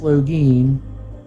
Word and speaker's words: Logan: Logan's name correctly in pronouncing Logan's name correctly is pronounced Login, but Logan for short.